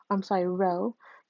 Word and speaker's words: rho: Where n is the number of pairs of data, the population correlation coefficient is represented by rho, the lowercase Greek letter rho, pronounced rho.